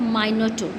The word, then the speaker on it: Minotaur: MINOTAUR, and its pronunciation is Minotaur. Okay, R is silent here.